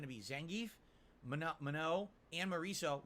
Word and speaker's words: Marisa: Will be you pronounce it like Marisa.